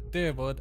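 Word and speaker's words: Dyrwood: keep to the old ways okay so they pronounce it as dewood and Eder okay need to remember it's truly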